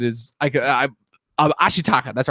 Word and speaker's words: Ashitaka: into like um i gotta make sure i pronounce this right because it is i could i um ashitaka that's right ashitaka struggle is i like how